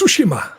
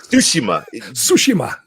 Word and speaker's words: Tsushima: It's pronounced Tsushima. Tsushima.